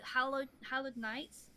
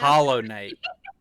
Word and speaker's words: Hollow Knight: I love 2D anime, like Hallowed Knights. That is that kind of style Hollow play. Knight? Yeah, Hollow Knights. I told you I was gonna mispronounce Hollow Knight.